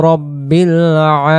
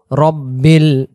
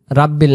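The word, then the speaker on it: رَبِّ: মুহাম্মাদুর রাসুলুল্লাহি ইমাম মুততাকিনা রাসূলু রব্বিল রাব্বিল না রব্বিল আলামিন লা শব্দের অর্থ হল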